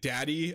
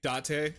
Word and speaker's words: Date: By the way, I'm not saying daddy, I'm saying Date, because that's how you pronounce his name. It's basically just date. D-A-T-E. But they say te when you do T-E in the Japanese language, because we don't want